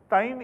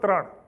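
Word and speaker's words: ત્રણ: Now for those who might know Gujarati, tain is a very rural colloquial way of saying three. So the teacher said wrong. It was only this pronunciation, which was very rural, but he was put down. Instead of Tran, which is the way I would say it in Ahmedabad.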